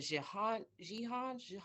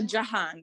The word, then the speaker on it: Jihan: Is it Jihan? Oh, Jahan. The I sounds Jahan. like an A, so I appreciate that.